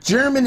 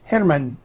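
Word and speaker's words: Germán: this is Hanuman now it looks like German in English but in Spanish it's pronounced Henneman the gallery use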